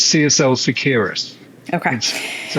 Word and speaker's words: Seqirus: You were talking me Yeah, through right before we started recording about how to pronounce it. Did I say that right? it's CSL Seqirus.